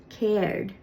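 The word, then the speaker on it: Céard: In Connacht, it's cared. And you might be thinking, hey, you done lied to me. You said there were only 3 Irish question words. Well, I didn't lie. Cared is actually a contraction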